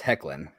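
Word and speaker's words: Hoechlin: the guy who plays superman now yeah it's pronounced heckling okay oh god oh it's funny i was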